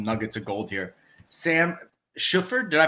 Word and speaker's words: Shuford: Sam Shuford, did I pronounce that right? Shuford, but yeah, more like the shoe emphasis. So Shuford, yeah.